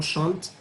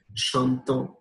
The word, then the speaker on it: chante: So don't pronounce when there it ends with ENT, don't pronounce it as chantant. It's chante.